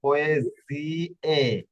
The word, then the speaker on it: poesie: Ecco, quindi le poesie, poesie da পোয়েজিয়ে, amore, জিয়ে এখানে জ্বর উচ্চারণ করবে, পোয়েজিয়ে।